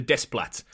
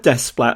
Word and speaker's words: Desplat: i remember historically you always knew how to pronounce the composers like after years i think i was saying alexander desplat but he's alexandra yeah he's called despat in the end credits of um moonrise kingdom